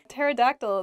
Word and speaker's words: pterodactyl: that on my own pterodactyl begins with a p but we don't say the ps just starts with a t sound in a sentence you